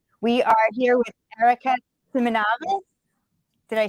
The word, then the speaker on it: Simonavice: We are here with Erica Simonavice.